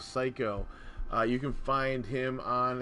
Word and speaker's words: Seico: But yeah, also intro and outro music by Psycho, and the name of the song is World of Mine, and that is spelled SEICO, Psycho.